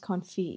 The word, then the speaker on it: Confit: It's pronounced Confit, you freaking idiot.